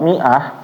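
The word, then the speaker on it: مائة: Jadi jangan sampai nanti ketika membaca Al-Quran ketemu kalimat mi'ah, berarti dibacaannya adalah mi'ah ya. Jangan dibacanya menjadi mi'ah. Kenapa mi'ah? Karena ini setelahnya ada alif. Nah, kita lihat alifnya padahal dia ada bulatan sempurna. Kalau bulatan sempurna artinya nggak dibaca sama sekali, itu huruf tambahan aja di dalam Al-Quran.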